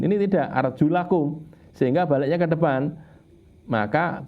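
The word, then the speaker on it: أَرْجُلَكُمْ: Kalau kena bak berarti kan arjulikum. Ini tidak, arjulakum, sehingga baliknya ke depan. Maka basuhlah wajah kalian dan 2 tangan kalian, nah gitu ya. Jadi bunyinya tidak arjulikum tapi arjulakum ilal ka'bain.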